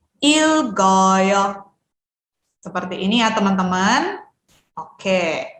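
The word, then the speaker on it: 읽어요: Karena sudah digabungkan, cara bacanya menjadi ilgoyo. Oke ya. Jadi di sini bisa nih disebutkan lil dan juga gioknya ya. Lil bisa disebutkan bersama dengan il dan gioknya bisa kita sebutkan bersama dengan o-nya ya. Ilgoyo.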